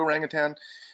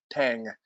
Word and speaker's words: orangutan: good place to view orangutan and and when i say orangutan it's orang utan there's no g on the end it's not tang i mean it actually